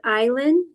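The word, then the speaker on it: Ilan: It's pronounced island, so you think of an island in the ocean, but no D.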